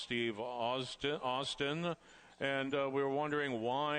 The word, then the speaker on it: Steve Austin: The name of the one horse is pronounced Steve Austin.